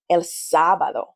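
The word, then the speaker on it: sábado: You'll notice that there's an emphasis on the first syllable, sabado.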